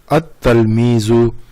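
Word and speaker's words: التلميذ: At-talmizu, al-kitab. So why? Ta is the sun letter, that's why we are using, not pronouncing lam.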